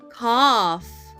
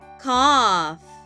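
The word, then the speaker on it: calf: trees the man sleeps under the palm trees cough c a l f let's spell that again c a l f cough let's read the sentence the baby cattle is called a cough the baby Kettle is called a cough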